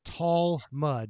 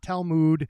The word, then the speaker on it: Talmud: to say it specifically it is tall mud not talmood i' I've said it